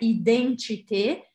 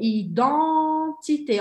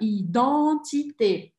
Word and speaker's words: identité: Aqui eu quero que vocês tomem um cuidado na pronúncia. Não é identité, é identité. Olha a minha boca. Identité.